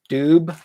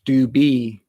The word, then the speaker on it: Dube: name wrong too because when you look at it it looks like it's pronounced doob and the way my dad had us pronounce it was do be and the story behind